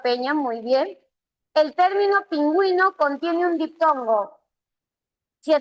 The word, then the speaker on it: pingüino: Sí, porque pingüino tú vas a pronunciar aquí la u suena y si suena se forma diptongo verdadero.